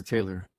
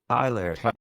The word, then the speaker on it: Tyler: Is it Tyler or Taylor? Tyler. Yeah, because I know, and some people like their names to be pronounced differently.